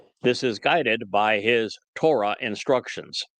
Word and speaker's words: Torah: This is guided by his Torah instructions. Torah, the O sound in Torah, is derived from the Hebrew Wah, and the concluding Ah sound is derived from the Hebrew Hey.